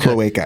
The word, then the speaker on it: cloaca: Basically, they found a fossil and they've identified the Do you know how to pronounce it, Dan? What's it called? Where it's like Cloaca.